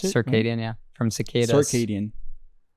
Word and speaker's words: circadian: sadian cycle right I think that's the word circadian that's how you pronounce it circadian yeah from circadian right which is basically your